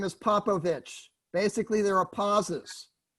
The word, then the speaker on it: Popovich: Okay, my name is Popovich. Basically, there are pauses. Pop, first syllable, O, second syllable, Vich, third syllable, okay?